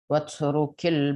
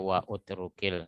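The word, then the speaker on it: واترك: Maka bunyinya hamzah wasal tidak terdengar. Tidak dibaca wa utrukil.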